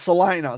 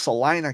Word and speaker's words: Salina: right the first Salina so it's Salina the long eye Salina I'll say l-i-n-a yeah yes okay so it's pronounced Salina Kansas okay I remember